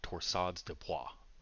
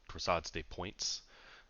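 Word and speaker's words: torsades de pointes: If there was a prolonged QT interval, this is called torsades de poids, okay, or uh, some people pronounce it torsades de points because we speak English and not French.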